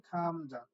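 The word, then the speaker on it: 감자: এখন দেখেন এটার উচ্চারণ খামজা কি করে হলো। আপনারা জানেন গিয়োগ বর্ণটা প্রথমে বসলে হয় খ, কারণ আমরা পড়ছি ক খ গ, তাহলে খ হয়।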